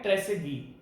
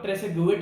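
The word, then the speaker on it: Trésaguet: है ये भाई साहब जिनका नाम है ट्रेसेगी, जिसका आप लोग ट्रेसेगुएट बोलते हो, क्योंकि इसकी स्पेलिंग में टी आता है, वो टी साइलेंट है।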